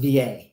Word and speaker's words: Wilier: So it's spelled Wilier, but it's pronounced VA.